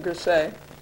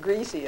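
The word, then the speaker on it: Griesa: is Thomas P gr it's really gasa but he want you to pronounce it gra so you won't pronounce it greasy I guess um he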